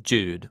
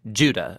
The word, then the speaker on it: Judah: The letter of Jude, or more accurately, Judah, according to the pronunciation of his name, both in Greek and in Hebrew.